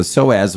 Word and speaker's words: Psoas: Jacob saying uh and we're talking about the soaz muscle see we we've got got it up